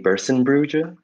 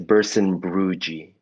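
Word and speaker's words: Berssenbrugge: Another influence is Maymay Bersenbrugge. I never know how to say her last name, but I think it's Bersenbrugge.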